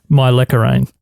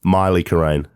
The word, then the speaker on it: Mylecharane: Mylecharane. Pretty much bang on. Mylecharane. Mylecharane. Mylecharane. Mylecharane. Mylecharane. Mylecharane.